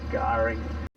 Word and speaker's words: K'gari: So that K apostrophe at the start, that is silent.